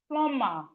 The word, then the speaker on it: plumber: Then we have plumber. Plumber. Plumber. Plumber. The B in plumber is silent.